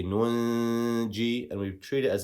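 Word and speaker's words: نُنجي: So here we don't just say nuji, we say nunji, and we treat it as if there was a noon sakin that was written there.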